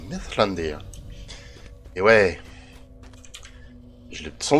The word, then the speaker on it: Mithrandir: Par contre, j'ai découvert sur je ne sais plus quel site internet que pour dire Mithrandir, on dit pas Mithrandir, on dit Mithlandir.